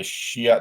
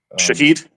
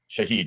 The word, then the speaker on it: Shahed: It's an air-to-air drone hunter uh that is meant to to hunt down the Shia the Iranian drones. How do you say that one? Shahed. Shahed.